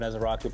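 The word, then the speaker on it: Ezeiruaku: Yeah, Haley, A+ on the Donovan Ezeraku pronunciation, so you get a gold star for that, no doubt about it.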